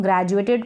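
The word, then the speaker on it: graduated: और यहाँ पर ग्रेजुएटेड, इसको हम ग्रेजुएटेड पढ़ रहे हैं। ये जो ए है इस ए को हम ए पढ़ रहे हैं, ग्रेजुएटेड। डी यू को आप जुए करके पढ़ेंगे, जुए, इस तरीके से जू और ए, जुए।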